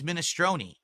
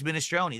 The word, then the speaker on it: minestrone: In Italian, it's pronounced minestrone. That's correct.